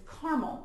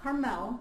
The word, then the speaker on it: Carmel: And I'm going to talk about, it's Carmel, Indiana, not Carmel, like California, Carmel. And I say it wrong all the time.